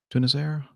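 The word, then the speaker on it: Tunisair: real a TC communications a tunas error Airbus am i pronouncing that right tunis air to Nazaire everybody I'm kissing you know said yes to now it's right a320 - 211 performing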